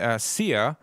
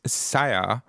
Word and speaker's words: Sia: quick story here it's something I discovered recently sea or actually it's pronounced SAA uh it's it aims to be the backbone